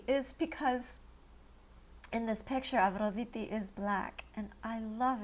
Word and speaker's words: Aphrodite: Okay, as a proud Greek, I can tell you it's pronounced Aphrodite. In English, we say Aphrodite, right? So in Greek, it's Aphrodite, in case you're curious.